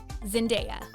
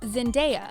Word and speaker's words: Zendaya: To be fair, reading Saoirse on paper isn't the easiest to pronounce, but it's a good thing you know now. Number 3. Zendaya. It's Zendaya, not Zendaya.